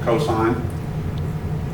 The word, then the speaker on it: cosine: Cosine, the abbreviation is COS. You pronounce it cosine.